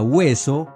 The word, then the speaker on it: hueso: Así, por ejemplo, huevo se sabía que se pronunciaba huevo y no bebo, o como en la palabra hueso, para no pronunciar beso.